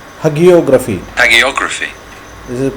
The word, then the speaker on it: hagiography: This word is pronounced Hagiography. hagiography.